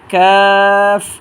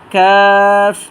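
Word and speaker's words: ق: হরফটার নাম হচ্ছে কাফ জিহ্বার গোড়া থেকে একটু সামনে বাড়াইয়া তার বড় বড় উপরে তালুর সাথে হরফটা আমরা উচ্চারণ করব তিনবার করে উচ্চারণ করি কাফ কাফ কাফ এই হরফটার নাম হচ্ছে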